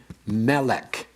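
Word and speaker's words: מֶלֶךְ: Segolate nouns are accented on the first syllable. For example, we have the word melech.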